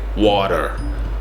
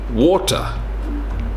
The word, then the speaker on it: water: Now, there's a few different ways to pronounce this depending on your accent. So Americans would say water, water.